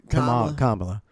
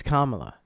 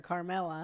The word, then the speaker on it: Kamala: I think it's Kamala, I think it's Kamala. but I I know hear Jerry calls her Carmela. and I hear so many Yeah, people.